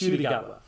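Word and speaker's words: Ncuti Gatwa: Pronouncing the new doctor's name, Shudigatwa. That's it's pronounced Shudigatwa.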